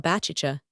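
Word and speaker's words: Baciccia: John with the city, great numbers of the common people are christened Javanni Baptista, which latter name is pronounced in the Genoies Pua Bachicha like a sneeze.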